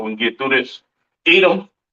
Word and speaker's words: Edom: Edom, Idawam, the devil that the Bible speaks of, your oppressor, the so-called Caucasian man, woman, and child, pronounced Idawam.